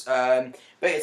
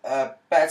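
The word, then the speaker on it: Betta: So basically, tanks, beta tank, or better tank, as I've been told it's pronounced.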